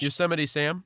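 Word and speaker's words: Yosemite Sam: Yuseity Sam. Yeah, Yosin Sam.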